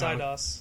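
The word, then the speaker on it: Eidos: idos idos yeah idos idos idos idos it's idos okay yeah I pronounce all sorts of things incorrectly I'm sorry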